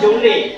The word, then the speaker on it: joule: Tulisannya joule, bacanya joule.